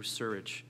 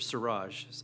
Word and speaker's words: Surage: into the death of Mr Andrew surich sorry Mr siraj I believe is the connect correct pronunciation Mr surich was